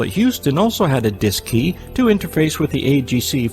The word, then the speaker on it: DSKY: digital display and keypad known as the dsky pronounced disk key on board both the cm and lm mission control at houston also had a disk key to interface with the agc for remote control